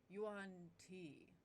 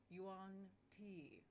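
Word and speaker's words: yuan-ti: head up and says you on t it's pronounced yuan t and then puts his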